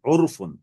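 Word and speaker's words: عرف: এবার এটা বাংলাটা একটু লিখে নেন, ওরফ, উচ্চারণটা আগে লেখেন, এটা হরকত দিয়ে উচ্চারণটা লিখে নেন, ওরফুন, আইন, আইন ফেশ ও, আর রা সাকিন, ওরফুন।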